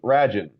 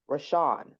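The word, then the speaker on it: Rashon: that my name was Rajin. R A N J I N. Rajin. No, it's actually I I even said it wrong. It's R A S H O N. Rashan.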